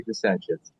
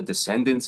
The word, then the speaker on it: Dissentience: We say Densience. Uh I don't know that there's a right or a wrong way, but we say Densience.